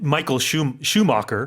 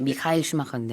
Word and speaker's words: Michael Schumacher: 원어의 발음보다는 그냥 영어로 발음하기 편하게 바꾸는 경우가 많이 있거든요. Yeah. 그래서 마이클 슈마커라고 많이 해요. 원래 이제 미카엘 슈마커인데.